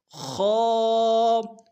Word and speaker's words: خ: اگلا ورڈ خو، موٹے حروف میں سے ہے، یہ گلے کا وہ حصہ جو منہ کی طرف ہے وہاں سے ادا ہوگا موٹا خو.